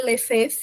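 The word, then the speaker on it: Lefebvre: Ele é chamado Henry Lef. É basicamente assim a a pronúncia.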